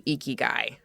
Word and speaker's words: Ikigai: So, Tim Tomiro is the author of How to Eeky Guy. Yes, it's pronounced eeky guy if you've heard of it before.